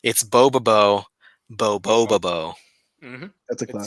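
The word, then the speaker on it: Bobobo-bo Bo-bobo: It's like before you hear anyone say boba boba boba bo. Okay, bobo bo bo bo bo. Yeah, so you're just like bo bo bo bo bo, but it's boba bo boba bo.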